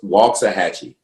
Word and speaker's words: Waxahachie: It's spelled wax, but it's a long A, so it's Waxahachie.